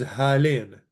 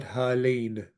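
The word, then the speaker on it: ܗܠܝܢ: These objects close to you is halen, and it's the same whether it's masculine or feminine. Halen. We usually don't pronounce this yod. It's not halein. That's just not usually the way it's pronounced. Halen.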